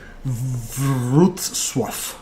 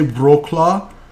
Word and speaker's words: Wrocław: Wrocław. Let's hear it. Wrocław. Wrocław. Wrocław. There you go. I was so tempted to say Wroclaw, but I just had a feeling that's completely inaccurate. So Wrocław.